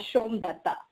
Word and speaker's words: Somdutta: No, it's pronounced as Somdutta. Well, I know it's a tongue twister, so it's easier to.